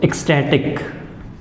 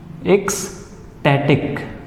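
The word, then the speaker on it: ecstatic: अगर मैं इसके एक वोकेबलरी वर्ड की बात करूं तो एक्सटैटिक, एक्सटैटिक। जब भी कहीं प्रोनाउंसिएशन में दिक्कत आए तो डिवाइड कर देना चाहिए वर्ड्स को, एक्सटैटिक, एक्सटैटिक, ठीक है।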